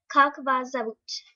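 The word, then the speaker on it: Как вас зовут: So that's how you spell it, and this is how you pronounce it. Kak vas zavut.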